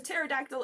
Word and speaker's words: pterodactyl: Yes, the "P" is silent.